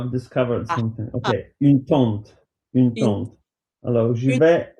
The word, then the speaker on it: tente: Une tente like your aunt is T A N T I. Une tente when you go camping T E N T I.